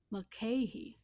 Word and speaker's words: Mulcahy: Mulcahy. Mulcahy. You got it right. You just did a short A instead of a long A.